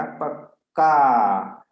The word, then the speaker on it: पक्का: अब पक्का, प के बाद में उच्चारण कीजिए, प के बाद स्वर आया अ, तो यहाँ क है जो आधा क है, अर्थात यहाँ दो संयुक्त व्यंजन के पूर्व अर्थात प के साथ इसका उच्चारण होने वाला है तो इस पर बल अधिक मिलेगा, पक्का।